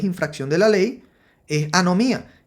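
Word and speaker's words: ἀνομία: vamos a ver aquí Qué significa significa se pronuncia anomía y significa y la ilegalidad es decir violación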